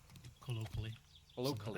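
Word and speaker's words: colloquially: o q u i a l l y callyo I think it's how you yeah I think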